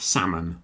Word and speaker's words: salmon: and salmon. The fish salmon also has a silent L.